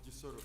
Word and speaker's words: Kisoro: Derek Kwiringira, an analyst and a man who actually made it all the way from Kisoro, or Gisoro as we often pronounce it, to Ground Zero program this 23rd day of November, the year 2024.